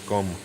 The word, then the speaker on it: gqom: uh i don't know how to say this gqom it's gum really cool stuff yeah